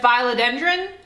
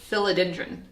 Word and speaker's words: philodendron: pothos apparently it's pothos and I've always said philodendron apparently it's philodendron philodendron bill so now every time you hear